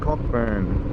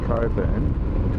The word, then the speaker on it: Cockburn: Entering the little town of Cockburn. I'm sure it's pronounced coban, but I'm calling it cockburn.